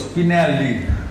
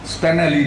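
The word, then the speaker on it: Spinelli: আমরা আজকে father Emilio স্পিনালি কথা স্মরণ করতেছি না, স্প্যানালি না, তোমরা অনেকে উচ্চারণ করতে পারো না, এমিলিও স্পিনালি, তাকে আমরা স্মরণ করতেছি।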